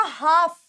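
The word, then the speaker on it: half: हमेशा साइलेंट होता है एल हमेशा साइलेंट होता है तो यह वर्ड क्या बना यह वर्ड बना हाफ यह वर्ड बना हाफ हाफ नहीं हाफ हाफ ठीक है क्योंकि एलएफ साइलेंट होता है वैसे ही यह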